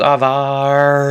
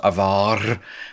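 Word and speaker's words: עבר: the dallas um there's that's why i don't want you to roll your r's avar because it's sound it's uh if you want to do it maybe in the back of your throat maybe just don't do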